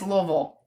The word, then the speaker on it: Louisville: Oh, somebody said I pronounced Louisville correctly. It's it's Louisville.